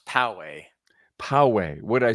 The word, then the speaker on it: Poway: Diego that is correct yes and it's technically pronounced Poway Poway would I say yeah it's Powell like